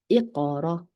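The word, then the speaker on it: اقرأ: 때문에 연습이 많이 필요합니다 목 안에서 나는 손이고 꺼 꺼 제가 느낄 때는음 꺼 할 때 약간 새들이 물 마실 때 물 넘어가는 소리 있잖아요 약간 그 소리 같아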